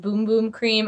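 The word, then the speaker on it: Bum Bum Cream: As I said, I'm going to take this, as somebody told me, is pronounced Boom Boom Cream.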